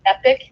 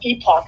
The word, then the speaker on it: epoch: But I'll tell you what, the epoch, and I used to pronounce it epic because I didn't know how to pronounce it, and then I heard one of their journalists, and he's like, epoch. I'm like, oh my gosh, I've been mispronouncing it for like 6 months.